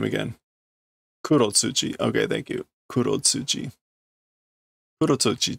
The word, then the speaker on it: Kurotsuchi: Captain Kurotsumo.